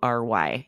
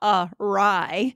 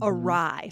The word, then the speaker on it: awry: This is spelled a little bit strangely, Awry. You may have seen this word and not known how to pronounce it. Yeah, be careful here. It's not two words, right? It's not awry or it's Mhm. awry.